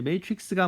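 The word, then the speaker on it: matrix: 그래서 이 발음은 틀리면 안 돼요. 왜냐하면 맨날 나오니까. 그래서 매트릭스입니다. 자, 그래서 이제 매트릭스가 뭐냐라고 이제 이야기를 할 건데요.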